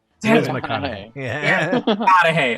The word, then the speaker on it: McConaughey: it it's mcconaughey right i'm saying it right mcconaughey yeah yeah i like matthew it's just it